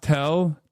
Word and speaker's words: TEL: TEL is pronounced TEL, Transporter Erector Launcher.